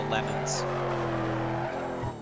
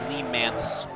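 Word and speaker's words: Le Mans: The lemons. I know that's not. I have to clarify it every time I say it, but I know that's not how it's pronounced. It's just, it sounds funnier, okay? Obviously, it's pronounced Lee Mance.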